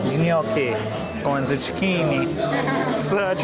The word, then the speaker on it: gnocchi: How do you pronounce that? Gnocchi. Gnocchi.